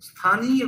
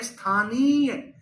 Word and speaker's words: स्थानीय: Maximum लोग स्थानीय को स्थानीय बोल देते हैं। स्थानीय स्थानीय बोल देते हैं। अरे यहां पर छोटी इ की मात्रा थोड़ी है। यहां पर ह्रस्व स्वर थोड़ी ही है। यहां पर तो दीर्घ स्वर है और ह्रस्व स्वर